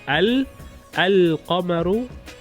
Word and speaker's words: القمر: So when you introduce the definite article, if you pronounce the lam in al-qamaru, it's a moon letter.